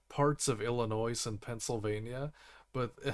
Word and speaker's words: Illinois: French so they don't they don't say the other s so it's Illinois that's everyone outside of it doesn't care we say Illinois let's foreign Colorado I